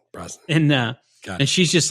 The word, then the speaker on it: Brosnan: Brosnan.